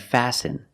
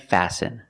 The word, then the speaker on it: fasten: listen it's listen and fasten example fasten your seat belt fasten is a verb and the t is silent you need to fasten